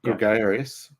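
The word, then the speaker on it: Gregarius: Gregarious. Yeah. Well, Gregarious. Because people long A. Right. In the middle there. Sorry, what did you say? There's a lot. That middle A is a long A, so it'd be Gregarious.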